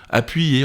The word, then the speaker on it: appuyé: par exemple physique et comme une consonne puisqu'elle se prononce yeux appuyé royal mot dans lesquels le dictionnaire de l'accadémie française fait remarquer qu'il se prononce en fait comme s'il y avait deux y deux i pardon l'un faisant partie de la syllabe précédente et l'autre d'une syllabe suivante royale appuyé c'est pourquoi